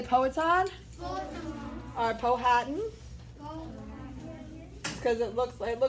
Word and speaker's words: Powhatan: um the poet or pow hatton okay and the chief is a chief poet on is actually how you say it and he was the